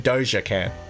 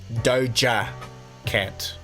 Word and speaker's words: Doja Cat: DOA cat I'm saying DOA can't but apparently it's supposed to be Doja cat Doja cat now let